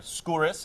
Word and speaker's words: Skouris: And you get out here, you get on a great show like the 4400, where your character Diana Skouris, is that how you pronounce it?